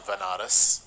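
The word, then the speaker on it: Varanasi: ended up going to Banaras which is a place in India sometimes pronounced as vanarus which is which is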